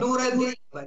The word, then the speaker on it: Нура де-Либа: Я боюсь, может, ты меня тогда поправишь, если я не там сделаю ударение. Называется оно «Нура де Либа» или как? «Нура де Либа», да.